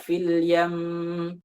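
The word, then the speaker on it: في اليم: Atau misalnya fil yam, jangan, nggak perlu. Biasa aja fil yam.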